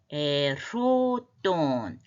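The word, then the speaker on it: ἠρώτων: 제자들이 그러는 사이에 동사는 이제 에로돈 이 르가 약간의 흐발음이 흐같이도 들려요. 그래서 후음이기 때문에 그렇습니다.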